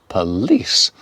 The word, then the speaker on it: police: Police, police, police. Stress on the second syllable, police.